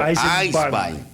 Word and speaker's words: Eisbein: Então ele diz, o Nélio aqui, que Eisenbahn é trem de ferro e o Eisbein. E o Eisbein. Você vai querer que eu pronuncie corretamente ainda.